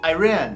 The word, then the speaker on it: Iran: 이란 영어로 이란, 아이란, 이란, 아이란, 이란, 아이란. 사람마다 발음 다르게 하더라고요.